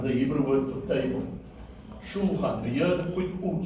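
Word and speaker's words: שולחן: So the first syllable is shul. Shul. Right? The second syllable is chet, which is sound, with a kametz, which is a, and then followed by a final nun, which is n. So the second syllable is chan.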